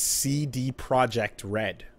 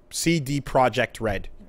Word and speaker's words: CD Projekt Red: like kind of smirking its CD Projekt RED it's not Pat we heard it it is officially CG CD Projekt RED okay there is no other way to pronounce it all right so this